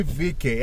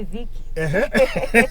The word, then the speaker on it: Vike: today we have jackie vk and and that concept the pronunciation of the last name we are doing it right you are you are fantastic many people say vicky jackie vk in the